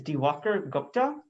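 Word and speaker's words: Diwakar Gupta: My name is Devakar Gupta. That's spelled DIWAKARGUPTA.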